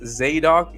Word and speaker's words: Zadok: Uh this first one, his name is Zadok, pronounced Zadok, Z- A D O K.